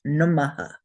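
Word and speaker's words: namaḥ: And I would like us to say this as namaha. So the visarga sound is a aha sound. Aha. Geshe Michael prefers not to say aha.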